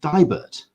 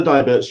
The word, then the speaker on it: Deibert: And I want to make sure I'm pronouncing her second name right. Is it Deibert? It is Deibert.